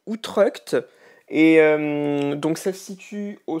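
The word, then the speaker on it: Utrecht: juste un pouvoir alors pour la prononciation je m'étais trompé à l'époque ça se dit outrec et donc celle-ci tu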